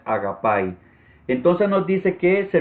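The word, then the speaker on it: ἀγάπη: Y bueno, usted puede ver ahí donde dice ortografía fonética cuál es la forma correcta de pronunciarlo, que sería agapai. Ya yo lo pronuncié mal, ¿verdad? Cuando dije agape. Así es como se escribe en español, pero la pronunciación correcta es agapai.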